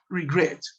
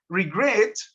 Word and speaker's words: regret: una sílaba, por ejemplo, regret es un verbo que tiene dos sílabas en inglés, regret, y su entonación o su acentuación está en la última sílaba, que es gret.